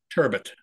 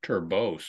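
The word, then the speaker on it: turbot: liking a fish um turban turban turbit t r b o t and that's corre the correct way to say it uh I said it once to the woman at hens and she went it's turbos or like whatever turb it's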